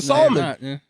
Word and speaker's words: salmon: episode solomon solomon solomon you stop pronouncing the l it's not that's how you say it the fish the salmon salt salmon like williams